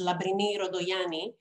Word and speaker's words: Labrini Rantogianis: My name is Labrini Rantogianis, although I was told I should pronounce it with the Greek pronunciation, which is Labrini Rodoyani. I'm very happy to be here.